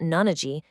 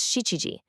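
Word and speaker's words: 七時: For 7 o'clock, it's not nanaji, it's shichiji.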